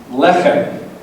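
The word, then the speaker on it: לֶחֶם: Okay, so the one on the right is pronounced lacham, and the one on the left is pronounced lechem.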